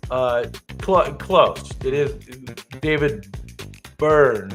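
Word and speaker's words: Byrne: It is David Burn, right?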